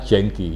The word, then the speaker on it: jengki: Itu jengki itu kan asalnya tulisannya kan Yanke, kalau dibacanya jengki, Yanke, dibaca jengki.